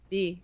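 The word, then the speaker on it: Bea: B. It's not Bia. It's B. Whatever. I say Bia.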